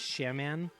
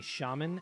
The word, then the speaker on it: shaman: i thought it was shaman uh which is not the recommended way to pronounce that it's apparently shaman and i hated that pronunciation because i thought it sounded like toilet paper oh like he's the